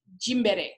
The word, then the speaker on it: Gymboree: That's basically how it's pronounced, unless you're saying it the way my husband wants me to say it, which is Jimbere, which is the African version. But I think Gymboree sounds more like a